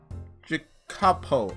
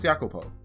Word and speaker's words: Jacopo: His name was Jacopo. I want to make sure I pronounced that right, so let me look it up.